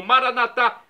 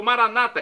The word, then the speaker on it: Maranata: E agora do aramaico, dialeto de Jesus, eu clamo Maranatá, como dizemos nós católicos, ou Maranata, como dizem nossos irmãos separados, os evangélicos ou protestantes, não importa a pronúncia, o significado é o mesmo.